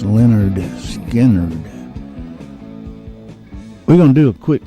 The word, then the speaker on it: Lynyrd Skynyrd: down Monopoly in 1973 the one that's pronounced Leonard Skynyrd we're gonna do a